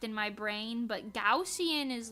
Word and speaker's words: Gaussian: I always said goian I thought it was gajan like Gan but uh no internet says it's pronounced gaussian which just sounds so fake gausian gaussian huh